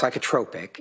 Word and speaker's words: psychotropic: It's pronounced psychotropic and okay.